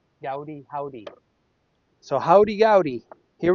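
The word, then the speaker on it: Goudy: I actually looked it up online and it says howdy. Like how you'd say howdy. Gaudy.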